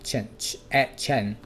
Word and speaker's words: chance: 这个蝴蝶音记得发出来有一点点像 R 的音哦。可是它又有 A 跟 R 的中间，就偏向 R 的那一个 A 的声音，嘴巴张大 Chance 机会。